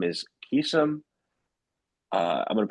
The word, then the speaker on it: Vakeesan: His name is Vakeesan. I'm going to pronounce this correctly.